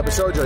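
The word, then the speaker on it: Bishoujo: Black yeah, Bishojo. Yeah, that's how you pronounce it.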